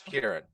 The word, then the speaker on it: Ciaran: pronouncing your name right i pronounce it kiaran in my head kieran that's kieran all right um just